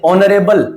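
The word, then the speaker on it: honourable: उसी प्रकार से ऑनरेबल तो ओ यहां पे प्रोमिनेंट है। ओ यहां पे प्रभावशाली है। एच यहां साइलेंट है।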